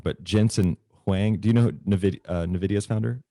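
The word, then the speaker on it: Jensen Huang: i'm going to get this name wrong but jensen hwang do you know novidia's founder yes is that how you say it yes jensen wang so jensen wang novidia's founder recently start recently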